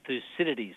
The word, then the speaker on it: Thucydides: The so-called Thucydides trap, if I pronounce Yes, that Thucydides, correctly.